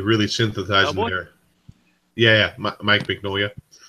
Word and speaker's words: Mignola: synthesized water yeah Mike Mignola you pronounce his last name big no um ignore whatever yeah but like